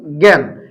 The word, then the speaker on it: জ্ঞান: tension দেখেন আমরা যদি বলি জ্ঞান কি বললাম জ্ঞান উচ্চারণ করি একটা গি দুইটা গ অবশ্যই একটা গ